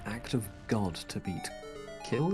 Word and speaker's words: Kyl: Kill, is it? KYL? Kill, yes. Yes, she pronounces it as kill.